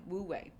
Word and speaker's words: Wu Wei: And if you're interested, it's spelled W-U-W space W-E-I, Wu Wei.